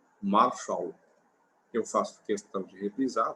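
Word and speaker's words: מָשָׁל: A palavra usual para provérbio no hebraico original é marshal. Marshal. Eu faço questão de reprisar, porque essa é a pronúncia, marshal.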